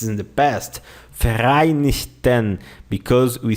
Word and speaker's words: Vereinigten: The letter V in German has the sound of the letter F. F, okay? You say Vereinigten Staaten.